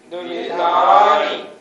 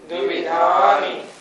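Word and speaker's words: द्विविधानि: द्विवधान द्विधान द्विविधानी द्विविधानी इसका भी उच्चारण हमें ठीक करना चाहिए। बहुत से लोग बोलते हैं द्विधानी पंचेंद्रियानी द्वि नहीं ऐसे नहीं द्वि पंचेंद्रियानी जोर देना है या पे धा पे द्विविधानी दो प्रकार की होती हैं।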